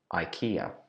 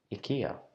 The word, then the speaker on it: IKEA: For my whole life, I have known this brand as IKEA. I've been calling it to my friends IKEA. I like going to IKEA, but apparently, after doing some interesting research, I found out this is not the right way to pronounce this brand name. Apparently, we should pronounce it IKEA.